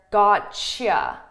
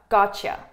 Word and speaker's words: gotcha: a tea and a Y together this is pronounced as a choo-choo that's why you hear gotcha choo gotcha gotcha and that's why we actually spell it